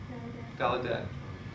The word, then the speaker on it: Gallaudet: Gallaudet.